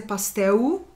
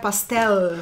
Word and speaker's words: pastel: E é até interessante a pronúncia, né? Porque em português é pastel e no espanhol é pastel. Oh, yeah, that whole L sort of thing.